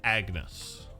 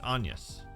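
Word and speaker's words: Agnès: name is anas clell most people would probably say Agnes I would presume because that's how it's spelled but because there is a tick above the E it's onus cart has a lot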